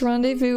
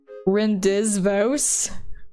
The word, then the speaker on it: rendezvous: the future again sometime I feel sorry for someone who doesn't understand what rendezvous is like how to say it Ren des Vosges what what is rindas vows picked on Phonics does not work right there the simple